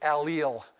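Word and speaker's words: allyl: uh alkane so instead this one is called allele a-l-l-y-l and if you take 7-0-1-2 at some point professor weinberg will refer to these pendant groups he likes to pronounce this allele you'll hear him talk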